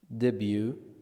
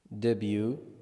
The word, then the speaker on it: debut: Debut, debut. The T is silent.